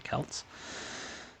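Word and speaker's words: Celts: for the audio listeners, the word is C E L Ts. I googled how to pronounce it and what I discovered is that the answer is like definitely Kelts unless like you're talking about like the Celtics like the basketball team.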